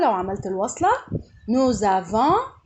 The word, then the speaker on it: nous avons: ركز بقى، هقول نو افون nous avons لو عملت الوصلة nous avons نطقت الاس زد، ورا حرف متحرك الاس ينطق زد لما يكون وراه حرف متحرك.